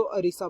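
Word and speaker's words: Odisha: Basically Urdu में अगर ओडिशा को किया जाए प्रोनाउंस तो अरीसा बनता है।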